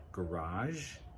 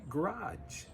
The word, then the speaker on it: garage: But American speakers, depending on who they are and where they're from, one might say garage, one might say garage.